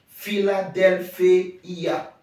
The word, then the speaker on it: Philadelphia: I et a donc fila Delphia Philadelphia Philadelphie et ça veut